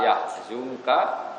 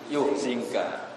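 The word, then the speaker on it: يحزنك: Makanya kita bacanya fala yahzunka qauluhum bukan fala yuhzinka.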